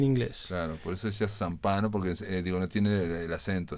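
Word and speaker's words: Zampanò: Pero es una pronunciación. Pero ellos lo dicen así, Zampano.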